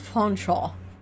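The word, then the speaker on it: Featherstonehaugh: Are feather stone hawk being pronounced fonchaw?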